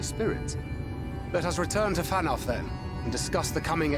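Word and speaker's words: Fanow: Let us return to Fanoff then, and discuss the coming expedition. Oh, it's pronounced Fanoff.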